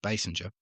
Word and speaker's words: Basinger: Now, we always used to say King Basinger in Australia, but I've noticed it is only spelled with only one S, I think, so it's Basinger.